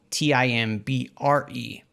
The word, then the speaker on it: Timbre: fused real quick fun fact here timber which is spelled t-i-m-b-r-e um it's actually should be pronounced timbre it's